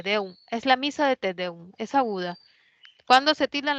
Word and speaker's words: tedeum: La siguiente palabra, tedeum. ¿Lleva tilde o no lleva? ¿Qué No dicen lleva. muchas? No lleva, excelente. Es una palabra que es aguda, te deum, ¿no?